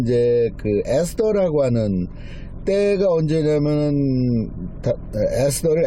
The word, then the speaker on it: 에스더: 이 부림절 뭐냐면 이제 에스더라고 하는 때가 언제냐면은 에스더를 에스테르라고 읽는 사람도 있고요.